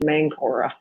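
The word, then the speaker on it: Máncora: So I guess in English it would be pronounced Mankora. So yeah, that's really close to where I'm at.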